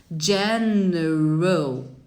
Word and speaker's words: general: General. O. Não é ao, é O. General.